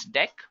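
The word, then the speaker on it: deque: have which is actually deck guys it is written as DQ but we can pronounce this as deck now talking about deck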